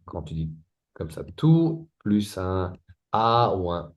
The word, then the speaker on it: tout: So basically we activate the T if if the word if two is followed with a A a E i Ou a E i o becomes tout à l'heure you heard t d'accord donc ici on